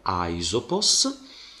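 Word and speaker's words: Αἴσωπος: la regola vuole che spirito e accento si pongono sul secondo elemento del dittongo Ma si fanno sentire come se fossero sul primo e infatti io leggo aisopos e quindi questo sarà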